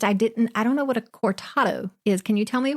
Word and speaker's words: cortado: Okay, next time I see you, I'll be getting the cortado.